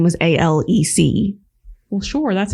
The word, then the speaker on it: Alex: but his name was a-l-e-c well sure that's how it's how you say it yeah or spell it but his is spelled Alex but it's pronounced Alec it's weird it is